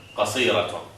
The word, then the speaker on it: قصيرة: Now, So the last one always pronounces ta. Because closed, so not ha. no, it is ha when it is sukun. Only fatat. Oh. Only this, if it has sukun, it is qasira.